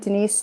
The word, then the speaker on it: Denice: So you can find me on Instagram, Denice Healing. It's my name spelled with a C, so I'm Nice, Denice, Denice.